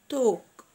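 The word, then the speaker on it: talk: بعد كده يتحدث، توك توك توك. عندنا هنا حرف الايه بننطقه زي الاو وحرف ال سايلنت، توك توك.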